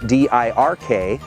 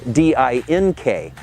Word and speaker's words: Dirk: my high school career, my name, spelled D-I-R-K, was mispronounced by one of the announcers as D-I-N-K. So I got the nickname of Dink instead of Dirk.